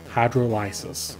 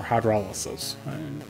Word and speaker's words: hydrolysis: And this whole process is called hydrolysis, or hydrolysis, whichever one you want to pronounce it, tomato, tomato.